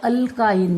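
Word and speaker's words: alkyne: असेल तर त्याला के, आता इथे काय असतं अल्के ANE हे लक्षात ठेवा स्पेलिंग, त्याला म्हणतात अल्केन, ए असतो. जर डबल बॉन्ड असेल तर त्याला म्हणतात अल्कीन, इंग्लिशमध्ये ई असतो बघा. आणि जर ट्रिपल बॉन्ड असेल तर त्याला अल्काइन म्हणतात, अल्काइन वाय, म्हणजे फक्त एकाच लेटरचा फरक आहे.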